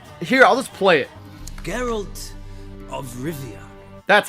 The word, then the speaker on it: Geralt of Rivia: our main character is Geralt of Rivia or Geralt of Rivera or draw it its garage I don't know if it's here I'll let's play it Geralt of Rivia that's how you pronounce it a white main